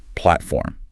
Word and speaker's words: platform: where you'll the Train the stress is on the first syllable platform mhm and another crucial